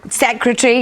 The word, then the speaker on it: secretary: Secretary, yes. But you hear on Radio 4, BBC Radio 4, you hear people saying secretary. I know. As if there's no R in the middle.